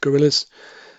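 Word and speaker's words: guerrilla: in the great ape, gorillas. So sounds like, but when you spell it in this context, it means a freedom fighter, as in a gorilla, G-U-E, 2 R's and 2 L's. Gorilla.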